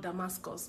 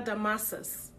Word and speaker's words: Damasus: my name is not damascus my name is really not damascus there's no c in my name i know you shout